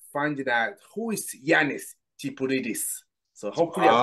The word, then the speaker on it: Tsipouridis: So they probably would like to start by finding out who is Yanis Tipouridis. So hopefully I Oh, pronounced it wow.